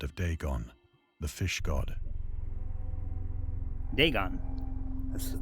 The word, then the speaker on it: Dagon: Dagon the fish God they gone that's how you say it okay that's another okay